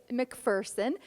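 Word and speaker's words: Macpherson: Well, I'm going to start with, Americans have been mispronouncing your name, and folks might have just heard me say McPherson. That is the correct pronunciation.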